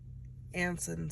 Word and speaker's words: Anson: How do you think these revelations affect Celine's choices when Anson suddenly reappears in her life? Have I been saying it wrong You've been saying the whole Anton, time? and it's Anson.